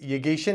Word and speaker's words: Yeghichian: I've got my good friend Yeghichian. He's going to say that I pronounced his name wrong, I'm sure.